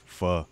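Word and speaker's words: pho: those who don't know you think it's called foe but it's actually called fur yeah people think it's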